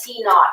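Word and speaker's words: T₀: an initial temperature and we pronounce that t not it means T sub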